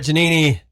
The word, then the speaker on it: Giannini: Yes, Brett Giannini. Did I say it right? Absolutely.